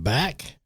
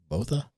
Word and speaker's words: Botha: Today we have Ba or as I pronounced it was Botha. I said Ba. So you said Ba. Either way, I mean, you know, but I think the correct way was BA.